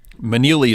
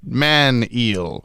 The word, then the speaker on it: Manili: another weird last name, Manili is great for throwing people off because it looks like it sounds like Manili, but then when someone reads it, they just have no idea how it's pronounced. So, what was you explained to me at Big Bus forever ago? Like, it's just man eel. Why? Yeah. Yep. I am the man eel.